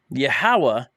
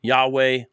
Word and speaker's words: Yahweh: it briefly okay um yahawah is an incorrect lashawan kadash to say Yahweh um yah ywe almost certainly is the way to pronounce the day Divine name the tetr grammaton which